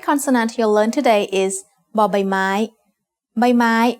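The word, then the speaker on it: ใบไม้: The third consonant you'll learn today is by my means leaf as the initial consonant of a syllable makes a sound b like the b in bucket.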